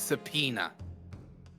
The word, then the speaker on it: subpoena: If the gentleman is at London's communication station, I mean, we should be able to subpoena him within the Subpoena. hour. Yes, it's spelled awkwardly, but it's subpoena.